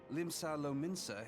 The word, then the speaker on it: Limsa Lominsa: Limsa Lominsa has the pleasure of being under her Limsa care. Lominsa. That's how you pronounce that.